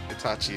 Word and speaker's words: Itachi: Itachi? Itachi, yeah.